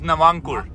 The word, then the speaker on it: Navankur: Can you pronounce his name? His name is Navankur.